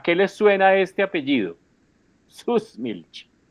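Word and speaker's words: Süßmilch: Susmilch y yo pronuncio además exagerado. Aleman como alemán alemanes.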